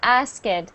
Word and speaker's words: asked: reading, yeah, I heard asked. For this word, you actually just make the T sound at the end.